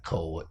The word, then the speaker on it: Cowart: Tyrone Cowart, Cowart. Okay. Tyrone Cowart. Is it Cowart or Cowart? Well, we pronounce it Cowart.